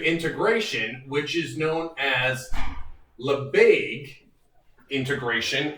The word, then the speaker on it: Lebesgue: which is known as labaig integration it's spelled it's french name so you know french spelling it looks a bit odd to those of us who are native english speakers it looks like lebesgue or something but it's